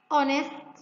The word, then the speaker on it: honest: Also we have silent T like poachers, poacher, castle, Christmas, fasten, silent H like ghost, honest, our, mechanic, and so on.